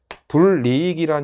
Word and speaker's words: 불이익: 어떻게 돼야 되느냐 예 불이익이 불리 이이란 형태가 나오려면 여기에 니은이 첨가됐다 거밖에 안 돼요 그리고 합성어 파생어 앞말의